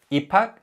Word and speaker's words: 입학: 입학 means to start school, and here the 받침 비읍 combines with the 히읗 in the following syllable to produce an aspirated sound, which is 비읍.